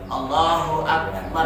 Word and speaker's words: Allahu Akbar: Allahu Akbar. Ya, Kan boleh. jadi Allahu Akbar kan begitu. Jadi ada jeda di situ sehingga tidak muncul waw di tengah-tengahnya.